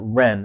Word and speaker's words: REIN: So I think they pronounce it REIN. It's R-E-I-N, the Real Estate Investor Network.